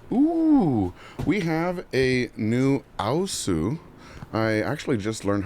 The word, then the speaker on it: aosu: a big box ooh we have a new U I actually just learned how to say this